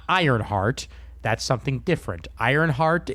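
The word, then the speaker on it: Ionheart: Ironheart is Marvel. This is Ironheart. There's no R. Please make sure to say it correctly. Right. Eye on heart.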